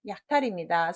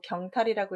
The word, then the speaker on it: 약탈: 답은 약탈입니다. 서울경보고 경탈이라고 읽기 참 좋죠? 이런 말 없어요.